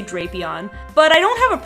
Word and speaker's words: Drapion: just to make sure it is in fact drapion so hopefully I'll remember that but it's another